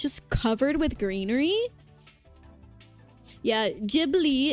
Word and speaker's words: Ghibli: Jibli is the correct pronunciation.